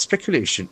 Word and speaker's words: speculation: Despite repeated denial, second, but speculation. S-P-E-C-U-L-A-T-I-O-N. Short ending must be nouns. Speculation. Speculation is a beautiful word. Speculation. Accent falls on third syllable.